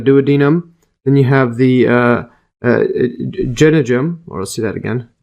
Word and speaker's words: jejunum: Then you have the jejunum, or let's see that again, pronunciation here.